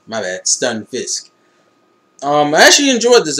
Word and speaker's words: Stunfisk: pal palad pal what the how do you pronounce this fucker's name? Palpito has a palpitish stunfish. Stunfisk my bad. Stunfisk.